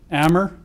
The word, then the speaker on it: Amer: Charged is Abdallah, I'll spell that for you, A-B-D-U-L-L-A-H, Amer, A-M-E-R, 18 years of age, and Balal, B-A-L-A-L, Jeha, J-E-H-A, 19.